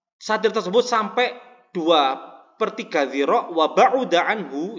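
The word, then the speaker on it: وَبَعُدَ: Au balaghuma, atau satir tersebut sampai 2/3 dzira' wa ba'uda anhu, ini bacanya wa ba'uda bukan wa ba'da.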